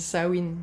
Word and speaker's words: Samhain: fait ça se dit sawin plutôt ça se dit pas Samain mais je risque de